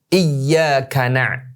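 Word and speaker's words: إِيَّاكَ: Jadi ya-nya itu ada tasdidnya, ya. Jadi harus iya, bukan iya. Ternyata artinya berbeda. Kalau membacanya iyyaka iya pakai ya-nya berarti double kan, tasdid kan?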